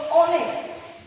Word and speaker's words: honest: Because this H is silent here.